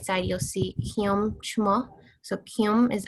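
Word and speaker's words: ខ្ញុំ: So to say I is Kyum. So here it has like an NH, but it's kind of like in the back of your throat, kind of like at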